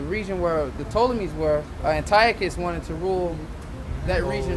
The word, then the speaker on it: Antiochus: It's pronounced Antiochus.